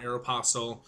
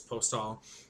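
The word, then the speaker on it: Aéropostale: Yes, I know it's not Aeropostale. The company wants us to say it correctly, which is Postal.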